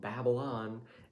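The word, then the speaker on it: Babbelon: word babel because he babbles a lot so babylon and i was so proud of that that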